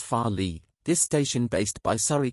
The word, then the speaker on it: Farleigh: farley this new station called farley pronounced as farley this station based by